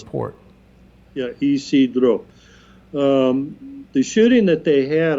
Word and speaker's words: San Isidro: There was a shooting recently at the how do you pronounce this? San Isidro. San Isidro port. Yeah, Isidro.